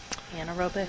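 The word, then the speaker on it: anaerobic: an in I'm not saying it right um Anor robic Anor robic thank you process it generates a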